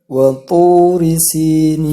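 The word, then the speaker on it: وطور سينين: Waturi, bedakan huruf ta dan huruf po. Waturi itu kalau membaca huruf ta itu salah. Jadi membacanya waturi sinin, agak tebal membacanya. Waturi sinin, sinin. Jadi di sini kalau kita membaca huruf sin itu tipis. Sin di sini tipis, si, seperti orang kalau senyum. Membacanya seperti orang yang sedang senyum.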